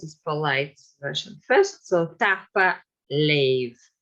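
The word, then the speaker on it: tapadh leibh: So it's so-called pre-aspiration, which is very typical for Gaelic, Scottish Gaelic.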